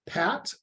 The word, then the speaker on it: pat: the pronunciation of everything the standard pronunciation of the at symbol is Pat and so your patp